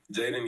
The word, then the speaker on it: Jaydon: Let me make sure it's Jaden and not Jaydon. Jaden Young. All right, cool. Jaden Young, we got it.